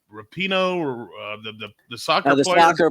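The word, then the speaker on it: Rapinoe: I don't watch any of those judges shows, but Megan, how do you pronounce her last name? Rapino, the soccer player.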